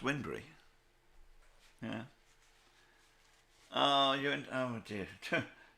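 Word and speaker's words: Wybunbury: that's uh it's spelt why bunbury but it's pronounced windry yeah oh you oh dear tell me about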